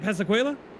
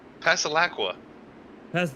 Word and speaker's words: Pasalacqua: Pasalacqua. Yeah. So we were saying it wrong. We were putting a qua on it.